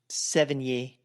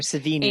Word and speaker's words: Sevigny: Chloe Sevigny. Yes. Or Savini. And I've heard it both ways.